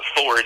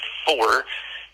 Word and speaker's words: Fore: And Fore is F like Frank, O-R-E like Echo. So it's not Ford, it's Fore.